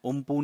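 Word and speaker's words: Amphan: जो साइक्लोन एफान है इसको प्रोनंसिएशन कुछ इस तरीके से भी किया जा सकता है ठीक है इस तरीके से भी इसको प्रोनाउंस किया जा सकता है उमप के नाम से बट आप इसको एफान भी अगर याद रखें तो कोई दिक्कत नहीं है और यह आया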